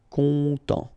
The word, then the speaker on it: content: Final T not pronounced, so N, en as well. Content.